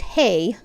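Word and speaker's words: hej: In Swedish, H-A-J, pronounced hi, means hello, and H-E-J, pronounced hey, means shark.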